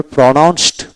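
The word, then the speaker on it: pronounced: তারপর প্রোনাউন্সড, প্রোনাউন্সড ট হবে।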